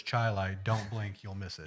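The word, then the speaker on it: Chili: and you see a a sign that says chai like don't blink you'll miss it yes you'll miss it everybody constantly will pronounce it Chile Indiana and it's chai Li even though it's spelled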